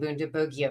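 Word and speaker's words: Bundibugyo: It is called Bundabugia or Bundabugia. It seems that the hard G team is winning out.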